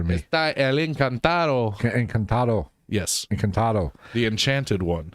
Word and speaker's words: Encantado: You can pronounce it better than me. Está el encantado. Encantado.